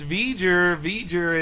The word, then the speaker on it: V'ger: And I was the one correcting her on like it's V'ger, and.